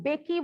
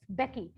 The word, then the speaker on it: Mbeki: Then Thabo Mbeki was sworn in as first deputy president. So Thabo, यहाँ see the name, M is silent here. ठीक है, आपने इसे Mbeki नहीं पढ़ना, it's Becky.